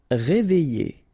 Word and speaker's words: réveiller: Réveiller. All right. E and then double L and a vowel after, y sound.